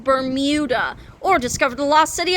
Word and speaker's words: Bermuda: in the Bermuda Triangle it's pronounced berm muda or discover the lost